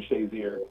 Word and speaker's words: Shazier: Is that how you pronounce it? Yeah, Ryan Shazier.